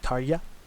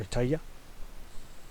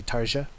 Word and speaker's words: Tarja: try to i know her name is pronounced something like tarja or taya like you don't pronounce the day it did the day you don't pronounce the j i like to say tarza just because it sounds it's easier to pronounce on my western ears but i know that's not how you pronounce it throwing that one out